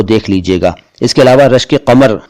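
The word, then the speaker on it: क़मर: इसके अलावा रश्के कमर में जो कमर शब्द आया है, कमर नहीं कमर, उस जैसे और भी बहुत सारे शब्द हैं जिनमें क अक्षर आता है, यानी क के नीचे बिंदु आता है।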